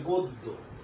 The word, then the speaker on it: গদ্য: জ ফলা থাকতে, সরি ব ফলা না, জ ফলা, হ্যাঁ, অর্থাৎ জয়ের সংক্ষিপ্ত যে ফলাটা আছে আমাদের, যেমন গদ্য, সঠিক উচ্চারণটা হবে গদ্য, গদ্য, নট গদ্য, হবে গদ্য।